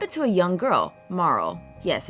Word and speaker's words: Marle: into a young girl Marl yes it's pronounced Marl not Marley and her pendant somehow